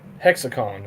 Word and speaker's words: HexiCon: about, uh, is pronounced hexicon, Tommy, right? Uh, hexacon is what I call it. Hexacon. Okay. So, the I is kind of silent there.